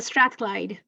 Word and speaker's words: Strathclyde: Lamia Sami is a final year PhD student at the University of, and Lamia, please, if you can pronounce this. it's Strathclyde. All right, University of Strathclyde, where she is researching South Asian fiction through